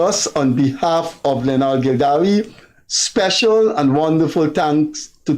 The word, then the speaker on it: Gildarie: And as usual, the man with the stale jokes by my side here, Guyana's enduring journalist, Leonard Gildarie. I got that pronounced.